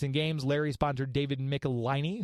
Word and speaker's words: Michelini: Games, Larry sponsored David Michelini, who I just found out was David Michelini and not Michelini. I'd been pronouncing it wrong this entire time.